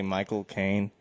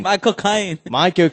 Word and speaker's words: Michael Caine: i tell you this if you say my cocaine but you kind of say it like loud and like slightly british you can do a perfect michael kane accent saying michael king yeah it's by cocaine yeah it's like my cocaine michael kaine my cocaine